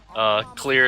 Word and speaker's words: Cleere: Clear is spelled C-L-E-E-R-E.